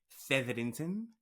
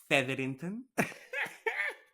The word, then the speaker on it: Featherington: It does seem that the actual lead protagonist in season three is Miss Penelope Featherington. I love how to say it. Featherington. You have to roll that R. Featherington.